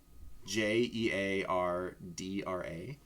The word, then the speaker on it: Jeardra: Jeardra. If you guys care. So it's like Deidre with a J.